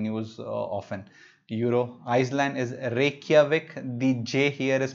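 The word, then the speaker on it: Reykjavík: is not in news often euro Iceland is Reykjavik DJ here is pronounced that why that's in most of the Germanic root all the words where you see in chase is pronounced as why Reykjavik Icelandic króna is the currency okay here are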